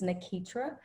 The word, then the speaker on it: Nakeitra: i say it correctly so my name is nakitra and i am from corinth mississippi very